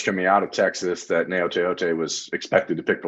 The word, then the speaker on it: Gaoteote: The G is silent like lasagna. Gaoteote.